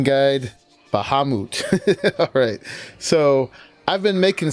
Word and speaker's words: Bahamut: I looked it up according to the D&D Dungeons and Dragons pronunciation guide. Bahamut.